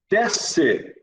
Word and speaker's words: desce: Desce. Eu não ouço o S quando eu pronuncio.